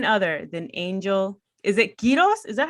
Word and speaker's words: Quiroz: Is it Quiroz? Is that how I say your last name, bro? Yes, Quiroz? That's exactly it. Quiroz.